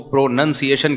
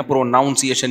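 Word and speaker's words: pronunciation: pro noun है लेकिन जब इसको प्रोनंसिएशन कहेंगे ना प्रोनाउंस एशन नहीं कहते तो मैं अपनी तरफ से इश्तिहार करके प्रोनाउन से प्रोनाउंस एशन बनाता था मुझे किने बताया यह प्रोनाउंस एशन जब होगा तो प्रोनंसिएशन होता है नाउन नहीं तो लुगत में कयास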